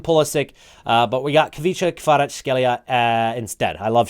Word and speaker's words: Kvaratskhelia: 5-star, Kavica Kvaratskhelia. If you're Georgian, let me know if I'm pronouncing that right.